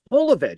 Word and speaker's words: Jovovich: And she goes, Holovich. It's Holovich. She goes, we made a whole movie together, and you still can't pronounce my last name correctly. So it's like, yeah, we're overseas. So what I noticed is European, it's Holovich. In America, it's Jolovich.